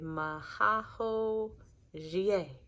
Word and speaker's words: Mao Xie: this, and I have a cheat sheet for pronunciations. And so rather than just saying Mao Xie, I'm trying to say Mao Xie.